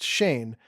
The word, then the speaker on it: Shan: This is the town where Shan Hanes, pronounced Shane, had spent his entire adult life.